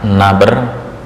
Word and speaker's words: nabr: bahas masih melanjutkan tentang naber naber bukan nobar ya naber naber sebelumnya kita